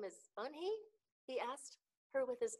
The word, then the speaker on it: Unhei: joey your name is unhi he asked her with his eyes open wide oon hey look quickly at mr kim then to joey she nodded slowly yes it's pronounced unhei and it means grace mr kim added joey